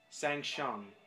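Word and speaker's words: Shang Tsung: can't do it now Shang Shong now sang Shong kind of hard to say his name sang Shong without the T he mimics every single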